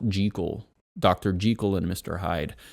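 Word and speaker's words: Jekyll: Strange Case of Dr Jackel and Mr Hyde this um I think it's actually supposed to be pronounced jle Dr jel and Mr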